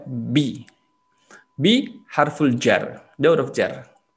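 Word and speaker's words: بِ: Tidak dibaca ba, pasti bi bacanya bi.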